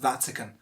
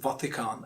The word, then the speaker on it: Vatican: one is vatican vatican it's pronounced vatican and i see a lot of people pronouncing it vatican and that's just the reason